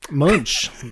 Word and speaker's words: Munch: How do you say it? Munch. I just think it's a fun word. I had to repeat it because it was fun. Well, it's a name. Anything. No, you got it right.